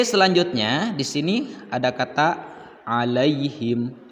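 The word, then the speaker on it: عليهم: harokah nah disini lihat dalam kalimat alaihim Apakah ini huruf Line atau madlin kalau Mad berarti ini debatnya panjang kalau misalkan disini hanya terdapat huruf clean saja maka dibacanya pendek alaihim Nah karena huruf depannya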